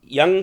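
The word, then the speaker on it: Jung: हुआ है American scientist name Karl कव जंग यंग बोलते हैं एशियन कंट्रीज में उसको वायू एन जी प्रोनाउंस करते हैं य लोग जे यू एन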